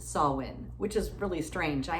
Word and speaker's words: Samhain: It's spelled S-A-M-H-I-N, but pronounced Samhain, which is really strange.